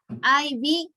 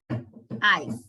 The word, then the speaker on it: I've: Remember the pronunciation. I. I-V, no, it's incorrect. The correct pronunciation is I've.